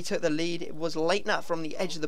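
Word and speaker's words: Leitner: well but we took the lead it was Lightner from the edge of the box or Lightner as I've been told to say his name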